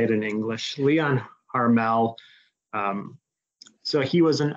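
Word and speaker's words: Léon Harmel: the late 1800s so I think in French should be properly pronounced Leo Leon Armel but I'll just say it in English Leon harmel um so he was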